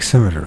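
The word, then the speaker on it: scimitar: all symmet symmet no schimer sounds like cimeter so the C is silent and meaning of a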